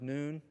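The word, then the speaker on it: ن: painted on their door this is the Arabic symbol for the letter N it's pronounced noon it stands for Nazarene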